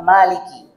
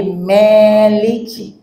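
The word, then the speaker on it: مَالِكِ: Ini kesalahan yang kadang-kala terjadi, mengimalahkan mim kata maliki. Jadi bukan ma tapi meliki. Nah, ini mungkin agak sedikit style, sedikit gaya dikit, meliki. Salah. Tapi harus dibaca apa? Maliki.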